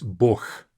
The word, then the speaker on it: Бог: And even though it ends on g, we read this as Бог, as if it's a h sound at the end.